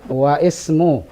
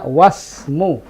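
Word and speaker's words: واسم: ismutajiri mahmudun wa ismibiun Bagaimana bacanya waismu bukan begitu bacanya wasmu wasm bagus bagus jadi untuk kalimat Ismu alifnya itu ketika di tengah tidak dibaca fahimti Rahma pahintu n jadi ketika ada wau wasmu seakan-akan alifnya tidak ada seakan-akan dia tidak ada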